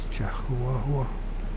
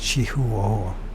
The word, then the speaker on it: Chihuahua: Sierra Madre, a Chihuahua, is this how you pronounce Chihuahua? Mexico? Chihuahua. It's Chihuahua.